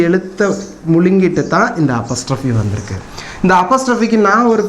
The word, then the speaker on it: apostrophe: இதுக்கு பேர் என்னன்னு கேட்டிங்கன்னா எல்லாரும் APOSTROPHE இதை வந்து அப்பாஸ்டர்ஃபின்னு உச்சரிப்பாங்க. இதனுடைய உச்சரிப்பு அப்பாஸ்டர்ஃபி, அம்மாஸ்டர்ஃபி, தாத்தாஸ்டர்ஃபிலாம் கிடையாது. இதனுடைய உச்சரிப்பு அப்பஸ்ட்ரஃபி. அப்பாஸ் சொல்லக்கூடாது, அப்பஸ். டிக்ஷனரி எடுத்து பாருங்கள். அப்பஸ்ட்ரஃபி இதனுடைய உச்சரிப்பு.